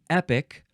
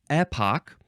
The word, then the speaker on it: epoch: word in this episode is epic or Epoch or some people uh in the US or Britain British they also say Epoch epic EPO Epoch e